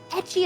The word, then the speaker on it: ecchi: and it was an ecchi one. It was an ecchi. Is that how you say it? Ecchi? No, ecchi. Right?